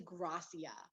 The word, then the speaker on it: Gracia: And she was like, actually, it's Gracia. I thought she was Hispanic, and she's like, no, I forgot like where her family's from, but it's actually Gracia.